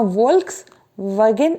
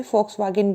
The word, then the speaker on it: Volkswagen: क्योंकि ये जर्मन थे, और जर्मन में जो वी होता है उसको एफ ही पढ़ा जाता है। आपने एक पॉपुलर कार ब्रांड है जिसका नाम है VOLKSWAGEN, जिसको प्रोनाउंस किया जाता है वॉक्सवैगन। आप कभी भी उसका जो है एडवर्टीजमेंट देख लीजिएगा, वहाँ वोल्क्स वैगन ऐसे नहीं बोलते, फोक्सवैगन बोलते हैं, मतलब लोगों की कार।